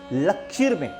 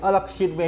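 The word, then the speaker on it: अलक्ष्मीर्मे: अलक्ष में ताम ताण इसका सही उच्चारण क्या है अलक्ष में लक्षर में सही उच्चारण नहीं है अलक्ष में ही सही उच्चारण है अब इसके अंदर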